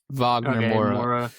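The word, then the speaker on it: Wagner Moura: Is it like Vagner? Vagner Mora.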